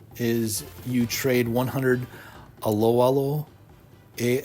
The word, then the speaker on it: Aloalo: you get this is you you trade 100 aloalo a l o a l o coins so